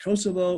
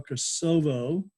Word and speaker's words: Kosovo: pronounce it Kosovo or Kosovo, became the center of all that stuff. And the reason I say you can pronounce it either way, it depends on whether you're going from which point of view.